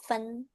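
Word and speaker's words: 份: Tapi ini bacanya jadi fen.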